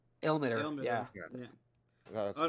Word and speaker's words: Ilmater: Ilmater. Ilmater.